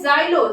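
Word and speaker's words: xylo: तो उसको हम बोलते हैं जेनिया ठीक है स्पेलिंग होती है एक्स ई एन आई ए जेनिया मतलब अतिथि उपहार फिर होता है जाइलो जाइलो मतलब cast x वाई एल ओ जाइलो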